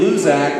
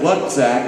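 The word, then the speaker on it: Lucak: Now, he pronounces his name Luzak, but I like to pronounce it Lutzak. It's L-U-C, because I'm lucky to have him as a friend.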